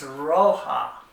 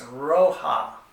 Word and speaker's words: roja: It means red, and it's roja. The Spanish J's are pronounced like H's in English, so it's roja for red.